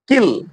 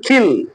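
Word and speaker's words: kill: যেমন আমরা যদি কিল কিলের কথা বলি তাহলে এটার সঠিক উচ্চারণ হল খিল কিন্তু যদি এই এর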